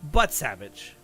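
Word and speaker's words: Butsavitch: Okay, but it was but it was pronounced but savage.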